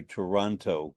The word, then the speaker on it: Toronto: And you actually pronounce it the way I do, Toronto, but not the way you Canadian.